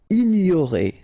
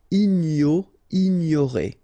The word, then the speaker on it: ignorer: Ignorer. So it's quite interesting here because you get this G and N here. So, ignorer. Accompagner.